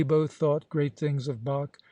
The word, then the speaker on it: Bach: We both thought great things of Bach, whom I found I was calling quite incorrectly, Batch, and Mozart, who also had to be pronounced a little differently.